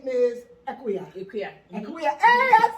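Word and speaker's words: Ekua: Okay, so my name is Equia.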